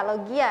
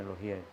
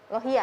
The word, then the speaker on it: Lohia: Iya, Logia ya, Kabupaten Muna ya. Bacanya Lohia. Lohia ya Pak?